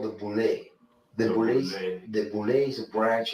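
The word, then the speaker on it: Boulé: So the host there pronounced it wrong. Jonathan Odie was correct. It is actually the Boule.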